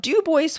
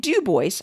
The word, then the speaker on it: Dubois: finally stuck with it they registered their displeasure by stubbornly pronouncing it dubois rather than dubois i would have fought